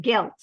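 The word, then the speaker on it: געלט: And sometimes in older books, you'll see it, and even in Yiddish spelled with a daled. But we pronounce it gelt.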